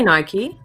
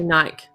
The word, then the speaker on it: Nike: I say Nike, but Americans say Nike. Right. But it is Nike. Like officially it is Nike because it was the god of something, Greek god or something.